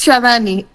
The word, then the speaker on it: Chavani: de la voz a sadani Discúlpame la ignorancia no sé cómo se pronuncia tu nombre si sadani o sadani entonces adelante por favor a ambos Hola buenas noches sí es chavani mi pregunta es que